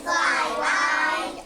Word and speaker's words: fly: It is I and fly. Y, I. It says it's long I sound at the end of a short word.